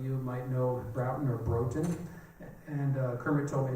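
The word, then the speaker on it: Broughton: partner at the time, a fellow named James Broutton. Some of you might know Broutton or Broton. And Kermit told me it's pronounced Broutton, excuse me.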